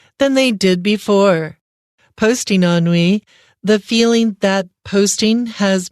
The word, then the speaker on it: ennui: So yeah, it just depends on your personal preference, but we're going to choose to do the American pronunciation, which is ennui.